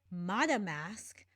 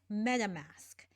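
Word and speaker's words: MetaMask: herself say it then she added the text download madam mask which is still incorrect it is meta mask now granted if she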